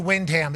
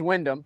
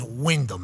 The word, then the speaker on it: Windham: Hey, Ty once said he calls you Windham. Is that offensive or not offensive? I don't care. See? But it is Wyndham, if you wanted to know. I know. Yes, that's a yes. It's spelled Windham, though.